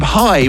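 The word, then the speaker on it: Hai: This week on the global warmup, my Trident Tested record of the week is from High, which is spelled H A I.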